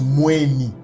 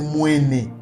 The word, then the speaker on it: Mweni: les dictionnaires Mbala français, que ça se prononce Mweni. On peut aussi le prononcer Mwene, parce qu'en réalité, le E et le I en Gimbala, en hébreu, ça se confond.